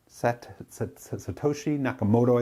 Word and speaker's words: Satoshi Nakamoto: the world basically evolved satoshi nakamoto i think is how you say it the person or people